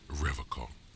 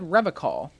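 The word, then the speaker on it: Revachol: pronounces Revocol with a hard K, unlike other people. You said Revocol.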